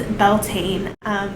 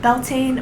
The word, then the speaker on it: Beltane: So what is Beltane? Beltane or Beltane or Beltane, it's going to have a different pronunciation depending on your region, is part of the pagan wheel of the year.